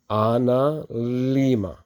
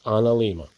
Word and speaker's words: analemma: Solar Ana Lima is how it's pronounced. Most people don't get this vowel and this vowel the right way, but it's an Lima.